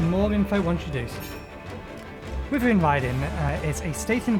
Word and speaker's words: Wyvern: Wyvern Riding, I just changed my pronunciation of that, it's Wyvern.